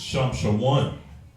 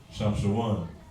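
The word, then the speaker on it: שמשון: In Hebrew, it's Shamshawan. Right? Shamshawan. Like Brother San Antonio, that's my guy right there. Shamshawan.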